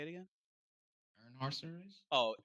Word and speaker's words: Earnhardt: Earnhardt series. Oh, Earnhardt.